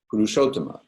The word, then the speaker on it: Purushottama: The dot under the S in Purushottama, the last word of the third line, is an SH sound.